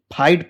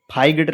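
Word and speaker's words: fight: जैसे लिखा हो एफ आई जी एस टी तो इसको फाइट पढ़ते हैं। फाइगड नहीं पढ़ते हैं।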